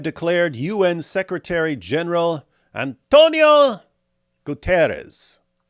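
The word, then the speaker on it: Guterres: un Secretary General Antonio gutiz when I hear his name pronounced I don't know if this is because it's a Portuguese or something like that but uh they usually say sha at the end GES I don't know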